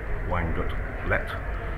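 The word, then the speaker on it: Weingut Leth: I'm from Dudley de Fleury Wines, and I import Austrian wines from Weingut-Lett. It's L-E-T-H, not pronounced H.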